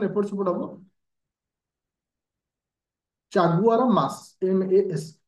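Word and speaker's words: Chaguaramas: रखियो very important point एटा चागुरा मास टिके pronunciation एपट सेपट हबो चागुआरा मास MAS ए ट्रिटीर नाम को मन रखियो ए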